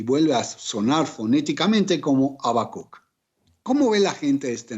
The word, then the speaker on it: Habacuc: del habakuk y también en el latín bíblico se habla de la misma manera pero no se pronuncia ni siquiera se aspira la primera letra esto es se le expresa como habakuk o se le expresa